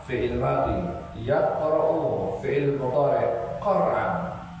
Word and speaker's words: Qur'an: Qara'a fi'il madhi, yaqra'u fi'il mudhari', Qur'an. Tapi dibacanya Quran.